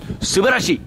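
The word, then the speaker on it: すばらしい: Subarashi.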